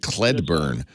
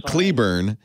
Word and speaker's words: Cleburne: of Fort Worth um oh I mispronounced it I'm sorry I said kled burn I'm so sorry Cleburne yeah I know and